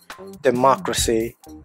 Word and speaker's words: democracy: More examples: bureaucracy, second syllable, democracy, second syllable.